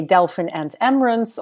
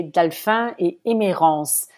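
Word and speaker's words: Delphine et Emerance: You can either say Delphine and Emerance, or you can say Delphin et Emerance. That sounds a little bit fancier, but it suits your fancy podcast.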